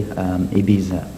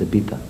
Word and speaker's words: Ibiza: Well, a lot of English or Americans, Canadians or whatever, they say Ibiza, but the Spanish pronounce Z as TH, so it's Ibiza.